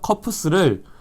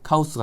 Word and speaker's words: 커프스: 그리고 이 소매에 따라서 쭉 내려오다 보면은 커프스를 일본식 발음으로 하다 보니까 카우스가 된 것 같아요.